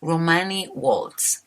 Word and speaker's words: Romani World: à l'heure en fait je devrais le prononcer complètement à l'anglaise soit Romani World vous êtes sur Radio